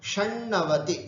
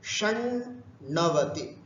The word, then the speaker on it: षण्णवति: षण्णवति उच्चारण भी षण्णवति, षण्णवति, बाकी सब ठीक है।